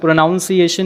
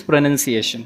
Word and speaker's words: pronunciation: एज I said प्रोनंसिएशन इट इज not prone प्रोनाउंस एशन इट इज प्रोनंसिएशन this is first one